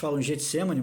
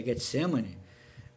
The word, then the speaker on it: Getsêmani: sua luta mesmo assim no Getsêmani Getsemani mas a pronúncia correta Getsêmani depois eu vou comentar